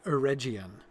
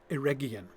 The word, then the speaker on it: Eregion: And I'm going to try to pretend that Gandalf didn't just say Eregion, because of course it's pronounced Eregion. With a hard G, as is, for instance,